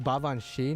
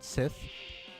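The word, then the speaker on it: Baobhan Sith: By the way, it's pronounced Bavanshi, not Sith. But you know, it's spelled Sith, so I don't really blame people for saying that.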